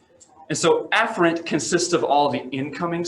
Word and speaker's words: afferent: division and efferent division some people pronounce afferent and efferent to where they almost